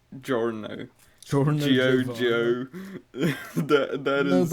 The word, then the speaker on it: Giorno: Because in Italian, that the Gio actually it's the GIO is pronounced just Joe, so it Yeah. is Giorno Yeah.